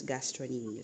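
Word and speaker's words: gastrocnemius: this is the cuff muscle this is the gastronomius it's spelled as gastroemius but it's pronounced as gastronomius so silenc okay and then you have the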